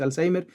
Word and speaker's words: Alzheimer: ¿La forma correcta de pronunciarlo entonces es Alzheimer? Bueno, es correcto decir Alzheimer.